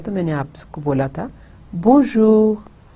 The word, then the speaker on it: bonjour: Ab isko main aisa dohrati hu aur isko hum do syllables mein divide karte hain. Bon. Dekhiye bon. Bon, ye first part ho gaya. Bone. اب آپ دیکھیں کہ یہ نون غنہ, میں این کو پورا نہیں پروناؤنس کرتی, وہ نیزل رہتا ہے.